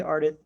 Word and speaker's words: Ardith: she's not much a fan of I'm glad you're okay, Ardith. Is that how you pronounce her name? It is. Yeah, Okay.